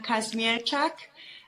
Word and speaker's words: Kazmierczak: going here back and forth how do you pronounce your last name uh my name is Casmir and now because my husband ismir okay perfect